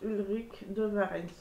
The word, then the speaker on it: Ulric de Varens: de rue de varenne ça s'écrit comme ça se prononce ulric de varens soleil sur le site